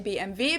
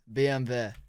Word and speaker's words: BMW: In German, we say BMW because W is pronounced W in German. And it stands for Bayerische Motorenwerke, which BMW.